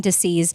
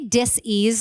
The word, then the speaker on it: dis-ease: balance between health and disease and i say dis-ease like that on purpose i'm not mispronouncing that is very intentional that i say dis-ease and not disease i used to say